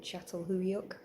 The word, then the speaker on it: Çatalhöyük: Archaeological finds from sites like, let me just get the pronunciation right, Çatalhöyük and Hacılar in what is now modern Turkey, but back then Anatolia.